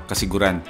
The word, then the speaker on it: Casiguran: pamilihang bayan ng kasiguran Sorry sabi ko kasiguran pero ang tamang pronunciation is kasiguran Namili lang kami dito